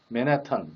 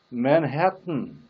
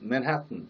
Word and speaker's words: Manhattan: 우리가 날마다 얘기하는 맨하탄 뭐 등등. 근데 그 원어민의 정확한 발음은 뭘까요? 맨하탄도 아니고 맨해튼. 그 다시 말하면 마지막 부분을 혀를 떼면 안 됩니다. 혀를 붙여둔 채 이렇게 처리를 합니다. 그래서 button, Manhattan 이렇게.